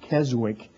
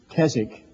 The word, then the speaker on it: Keswick: Sometimes they pronounce it Keswick, but it's Keswick.